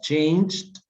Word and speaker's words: changed: see very good has changed a lot right we don't pronounce the e but we pronounce the d terry wasn't at home